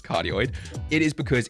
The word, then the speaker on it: cardioid: background noise isn't because it is a cartoid or actually pronounced as cardioid it is because it's